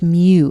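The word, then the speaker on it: μ: Okay, and if we're talking about the population, the symbol is mu. It's this Greek letter. Sounds like a kitty cat.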